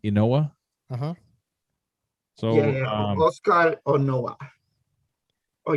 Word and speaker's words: Inoue: That's how you say his name, Inoue.